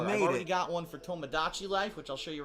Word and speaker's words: Tomodachi: oh I'm an idiot it is Tomodachi I thought it was like Tamagotchi kind of like the thing right now